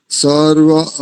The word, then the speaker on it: सर्वा: ॐ अभयं मित्रादभयं ज्ञातादभयं परोक्षात् अभयं नक्तमभयं दिवानः सर्व आशा मम मित्रं भवन्तु। अरे वाह, बहुत सुंदर उच्चारण। एक स्थान पर देखो, ठीक करो इसको और थोड़ा। सर्वा, आकार दीर्घ होता है ना, द्विमात्रिक होता है।